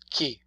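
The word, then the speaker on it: chi: opportunity to look at the pronunciation key c-h-i that's the only way in italia you can express the sound with an eye or any key see H I K cause they're okay CH i ki CH e k let's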